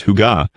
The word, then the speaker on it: hygge: The Danish concept of hygge, pronounced "hoo-ga", has entered global consciousness in recent years.